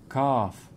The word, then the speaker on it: calf: same but with an F it's like this calf calf calf you see knowledge knowledge where's this